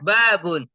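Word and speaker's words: بَابٌ: domomat tanwin masjidun kemudian babun ba pertama fathah ada Alif Sukun dan ba terakhir tanwin Z tanwin babun kemudian kitabun kafnya di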